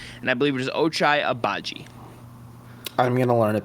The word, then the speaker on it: Ochai Agbaji: But I think Ochai, however you pronounce it, I have to learn it still. I believe it's Ochai Agbaji.